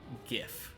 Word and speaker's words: GIF: That's like cherry on top for the reason why it should be hard G instead of soft G. Hard G, GIF is much more compatible with any other language.